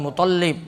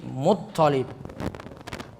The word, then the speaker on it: Muttalib: Toknya yang ditasydid. Bukan Muttalib, Muttalib.